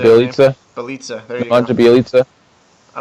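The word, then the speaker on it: Bjelica: Bielitsa.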